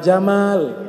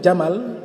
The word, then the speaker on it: Jamal: Kalau kita bacanya panjang, Pak Jamal, nah, itu artinya keindahan. Tapi kalau dibaca pendek huruf mimnya, Jamal, artinya unta.